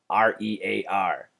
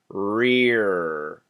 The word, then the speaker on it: rear: call you Churchill um if you're not pronouncing the RS it sounds like so this is tough rear rear can you hear that very clear R sound now gorilla I have